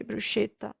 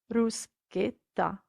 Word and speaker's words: bruschetta: is not bruce bruce italians never ever pronounce bruschetta so please don't say bruschetta it's ruskita okay now let's look